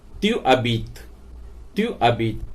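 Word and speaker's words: tu habites: तुम रह रहे हो, तो एच साइलेंट हो जाएगा। त्यू यू ए से कनेक्ट नहीं करेगा क्योंकि यू वोवल है और अबीत का ए भी वोवल है, तो ये वोवल कनेक्ट नहीं करते, तो इन्हें सेपरेट पढ़ा जाता है त्यू अबीत।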